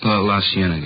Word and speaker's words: La Cienega: Over on, let's street out that way, La Cienega. Is that how you say it? La Cienega, yeah.